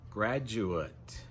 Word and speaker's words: graduate: That last vowel sound at the end is an Graduate.